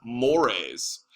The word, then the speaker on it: mores: on the other hand it's not called more it's pronounced mores and these are things